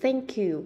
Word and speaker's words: thank you: Cảm ơn Thank you chúng ta không đọc là thanh kiều giống như chữ thờ của tiếng Việt nó không phải chữ thờ của tiếng Việt đâu mà nó là chữ sờ các bạn để đầu